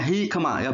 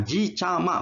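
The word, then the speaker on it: jicama: jambu air cikema bengkoang ini bacanya high kemarau bukan Ki chaal mah bukan hikmah bengkoang Sabar so sirsak starfruit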